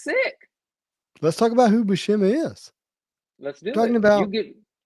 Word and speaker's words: Buscema: look how beautiful wait, it's Buscema, right? Buscema Yeah, is how we pronounce it.